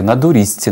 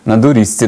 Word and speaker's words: на доріжці: сидить удома і повторює НА дурізці НА дурізці НА дурізці тобто він зазубрює заучує як правильно вимовляти на доріжці тато проходить повс і